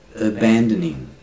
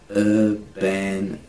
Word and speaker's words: abandoning: Abandoning. Abandoning. Not ning. Ning. It's like It's not n, it's not g, it's Abandonment.